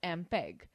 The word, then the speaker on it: MPEG: Students, note the fact, MPEG, pronounced as MPEG, stands for Moving Picture Experts Group.